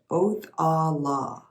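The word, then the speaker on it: Othala: what this card means pronunciation oath ah law meaning property and inheritance oath the law is the 24th and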